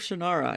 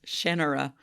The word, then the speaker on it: Shannara: where I realized that it's Shannara, not Shannara, which is how I've always said it. How everyone has always Terry said it, Brooks. and how it's said in the Shannara. TV series. But he calls it... Literally no one has called it Shannara. Terry Brooks calls it Shannara, so that's what it is.